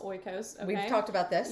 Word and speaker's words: Oikos: Oikos. Oikos.